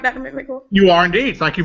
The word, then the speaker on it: McMickle: boo welcome Dr boo hello and Dr Marvin mcml am I and am I pronouncing it right Dr mcml you are indeed thank you very very much